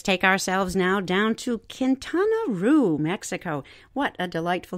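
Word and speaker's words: Quintana Roo: bigger basket let's take ourselves now down to kintana Ru Mexico what a delightful name kintana Ru will'll spell it Qi n t a n a second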